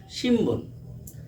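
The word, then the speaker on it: 新聞: রয়েছে উচ্চারণ করার দরকার ছিলন বন কিন্তু আমি উচ্চারণ করেছি সিম্বন।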